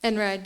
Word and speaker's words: Einride: Einride, yeah.